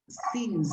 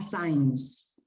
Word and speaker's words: since: Catalina, the pronunciation is since, not signs.